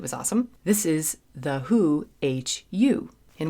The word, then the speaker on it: Hu: This is The Who, Hu, and Wiki says that it's pronounced Who, so I'm going with that.